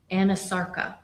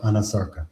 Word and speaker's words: anasarca: a condition known as anasarca? If I'm She not did. mispronouncing it. No, you're pronouncing correctly. She did have a condition called anasarca.